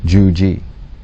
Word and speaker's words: Djuji: Now in Egyptian, a title for Set was Djuji, pronounced something like Juji.